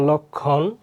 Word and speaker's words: লক্ষণ: দেখো তাহলে 3 নম্বর নিয়ম কি, যদি অ এর পরে যদি খ থাকে মানে ক্ষীয় থাকে তাহলে কি হবে, ও এর মতো হবে। যেমন লক্ষণ, লক্ষণ এখানে বানান বলেছে, এখানে ক হবে।